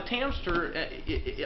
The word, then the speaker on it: Tamster: Now the Tamster, I know it rhymes with hamster.